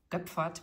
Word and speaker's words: Goepferd: We would say he is from Germany so or he was from Germany so I say his name in in German like oe is like an O with two dots above in German.